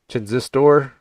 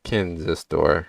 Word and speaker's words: Kinzistor: Or no, it's not Chin, it's Kinzistor, right? You said it has to be pronounced with a hard K. Whatever, man. Your email in my eyes. You started it. More of a soft K, but K, how you doing?